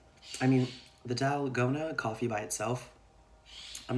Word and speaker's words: 달고나: This is N, and then we have the same A as here, so it'd be pronounced the same, dal, go, na.